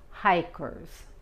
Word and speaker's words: hike: Cuando es sustantivo o verbo, la I se pronuncia I y la E es muda. Hike. Hike.